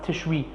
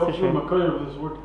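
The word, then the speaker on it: תשרי: I know the Pri Megadim in the beginning of Sefer Nutrikan says it's supposed to be pronounced Tishri, not Tishrei. But everyone says Tishrei.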